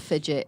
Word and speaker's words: Fidjit: Yeah, but usually when I spell it, people don't know what it is, but I'll spell it anyway. It's Go. just Fidjit, Fidjit.